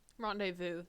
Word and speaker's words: rendezvous: tabloid jamming midnight rendezvous rendezvous s is silent it's french rendezvous to the mystery yet